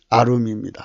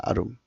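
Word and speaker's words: עָרוּם: 발음은 아룸입니다. 아룸.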